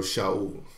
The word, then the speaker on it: Shaul: reading classical Hebrew I I pronounce where I see a shin is sh so shall but notice he's from